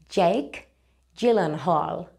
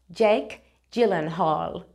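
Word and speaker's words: Jake Gyllenhaal: lo tienes escrito y esto se pronuncia Jake gillen Hall Jake gillen Hall te traigo por aquí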